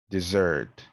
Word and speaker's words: dessert: sounds stressed syllables again you might convey the wrong message if you don't know which one to stress for example here you have personal and this one here is personnel see decade decayed desert dessert so you gotta be really